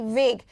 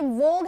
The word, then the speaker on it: vague: वेग है, VAGUE, वेग। यहीं पे एक और वर्ड लिख रही हूँ, VOGUE। दोनों का स्पेलिंग काफी मिलता जुलता है, परेशान ना हो। ये वोग है, वो वेग है।